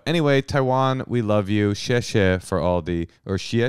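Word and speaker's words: 谢谢: Or xie xie. You thought it was xi xi?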